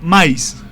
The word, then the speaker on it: mahís: La palabra como tal en taíno es maíz, que realmente se letra M-A-H-I-S con tilde. Pronunciación así con la tilde. ¿Okay? Maíz, con tilde en la I.